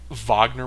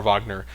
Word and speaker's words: Wagner: Is it Vagner Mora? Like as a basketball fan, I know like France Vagner and Mo Vagner, like I know you pronounce that Vagner, but they're German and so I don't know if I don't know if more Wagner Vagner. I think it's Vagner, but um I I I